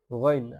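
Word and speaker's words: غين: হইতে উচ্চারণ করবেন আইন এরপরে হলকের শেষ ভাগ হইতে উচ্চারণ করবেন মধ্যখান থেকে উচ্চারণ করবেন গাইন তাহলে আইন গাইন গাইনের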